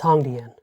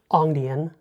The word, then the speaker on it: Hongdian: But I can fairly confidently say it's Hongdian, not Ongdian, not Hongdian, Hongdian.